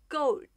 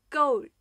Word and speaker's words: Gold: 在发音的时候，舌尖要抵住上面牙齿的根部。大家跟我一起读一下 Gold Gold Gold。